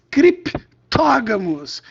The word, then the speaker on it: criptógamos: O P é mudo, os criptógamos.